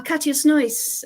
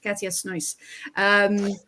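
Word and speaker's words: Katja Snoeijs: watching the Everton match, and the commentator's like, Katja's nice. And Georgie went, is he saying that's nice? And I'm like, no. Her name is Katja Snois.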